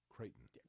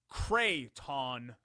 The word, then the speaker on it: Creighton: No, you're saying it like Crayola. It's Creighton. I'm saying it correctly. The school in Omaha, Nebraska. Creighton. How'd you say it? Creighton. There's 2 syllables there. Creighton.